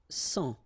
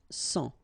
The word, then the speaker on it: sang: Un sang. Okay, remember this G here doesn't exist, so un sang.